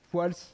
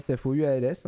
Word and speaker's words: Fouals: Fouals. Voilà, Fouals, F-O-U-A-L-S, en fait. On dit le S à la fin.